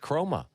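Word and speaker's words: Kromah: Same thing with the kid, coming off the edge, Chroma. Isn't that how you pronounce his name?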